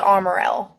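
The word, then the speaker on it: Armorel: what's the right pronunciation we've always called it armorale armor real yeah okay perfect uh because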